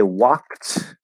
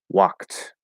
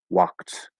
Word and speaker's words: walked: of the e and the d is going to be pronounced as a t because it's easier to say instead of right walked walked if i say stopped